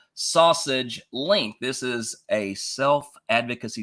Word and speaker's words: SASG Links: welcome to sausage link yes it is pronounced sausage link this is a self